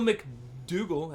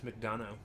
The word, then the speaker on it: McDonough: Anyways, but yeah, Neil McDougall. Actually, it's McDonough.